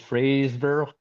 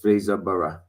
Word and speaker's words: Fraserburgh: It's Fraserburgh. I can't do the roll. Fraser. Sorry. Yeah, Fraser. Just the name, like the name Fraser. It's not Z, it's an S, but just exactly pronounced the same way.